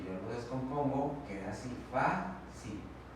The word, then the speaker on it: fácil: Si yo lo descompongo, queda así, fácil.